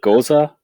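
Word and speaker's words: Gose: so it's a it's i think the germans call it goza that's how they say it and it's a it's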